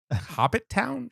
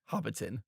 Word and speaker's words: Hobbiton: Hobbit Town? Yeah, I'm looking at the poster right there, and it's definitely Hobbiton. So I apologize. Hobbit Town. Those of us who have been know how it's actually pronounced.